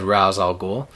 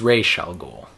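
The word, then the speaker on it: Ra's al Ghul: we pronounce raal ghoul he he said razal ghoul and then then Daniel o' Neil says it's R sh goul he he said he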